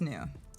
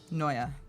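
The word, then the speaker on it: Neue: is Bebas New. Noya, depending on how you like to pronounce that.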